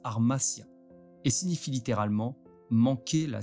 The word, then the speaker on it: hamartia: En grec, langue dans laquelle a été écrit le Nouveau Testament, le mot péché se prononce armasia et signifie littéralement manquer la cible.